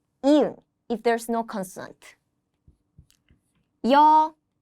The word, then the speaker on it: 여: Listen carefully to the pronunciation. 여. Two short strokes instead of one, give it a Y sound.